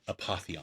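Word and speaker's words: Apotheon: They provide a pronunciation table, and I realized I'd never checked it like after I was done reading. So Apatheon. But yeah, having dreams or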